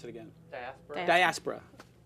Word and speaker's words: Diaspora: How do you pronounce it again? Diaspora.